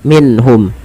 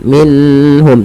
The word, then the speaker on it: minhum: sukun bertemu dengan ha cara membacanya itu diperjelas suara nunnya minhum dan tidak boleh perahan minum tapi jelas saja Kemudian